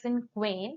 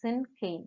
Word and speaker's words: cinquain: Okay, so if you look at the screen, by looking at the spelling, you may pronounce it as Cinquain, but it is not Cinquain. Okay, it is Cinquain.